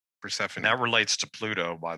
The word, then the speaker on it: Persephone: him abducting persev how do you say her persephone persephone that relates to pluto by the way too